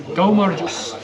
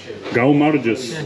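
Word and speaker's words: გაუმარჯოს: Go Marjus. Go Marjus.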